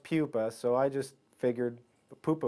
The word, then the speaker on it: pupa: the industry and they'd say I'd like a poopa pattern well it's pronounced Pupa so I just figured Pupa was a natural